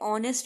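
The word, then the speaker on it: honest: He will come in dash are, अभी मैंने आपको बताया आर एच हमारा साइलेंट है, ऑनेस्ट में हमारा एच साइलेंट है, आर मतलब एन।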